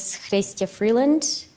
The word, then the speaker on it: Chrystia Freeland: the record please State your full name and spell it out my name is Stacey Freeland c-h-r-y-s-t-i-a Freeland f-r-e-e-l-a-n-d do you swear that the